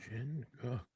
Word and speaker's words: Jinguk: It's called Jinguk, and their Korean food is, I think, some of the best that I've had. How do you Uh, spell that? I believe it's Jin Uh-huh. Guk Jin Cook.